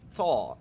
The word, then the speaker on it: thaw: Allow the meat to thaw completely before cooking. Thaw is pronounced similarly to saw.